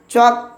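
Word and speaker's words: chalk: করে ফেলে আজ থেকে আর মিস্টেক হবে না চক উচ্চারণ হবে সি এইচ এ এল কে চক মানে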